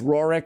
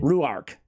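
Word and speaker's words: Ruarc: uh what's his face roric say my name again ruar not roric ruar I'm getting all my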